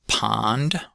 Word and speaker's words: pond: Uh so first word is pond. pond pond That's got the ah vowel in it.